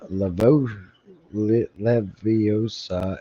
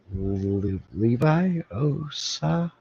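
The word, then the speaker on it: Leviosa: fun of word pronunciation it's not wingardium Le leosa it's wingardium Levi OA I got you I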